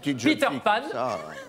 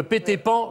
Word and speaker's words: Peter Pan: Peter Pan, toujours prononcé à l'anglaise, hein, parce que péter pan, c'est grotesque.